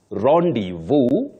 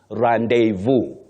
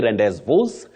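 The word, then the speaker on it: rendezvous: word from French yes so you say revu Ru you can also say revu another one Rand Vu but you don't say rendes and all those that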